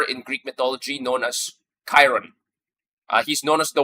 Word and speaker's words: Chiron: So because of that that's where the name the the proper pronunciation is Chiron.